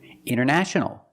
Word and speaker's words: international: Wanted or wanted. It's more common to hear Americans say wanted. You have NT in the middle, the T is silent. Other examples, internet. Internet or internet. International. International or international.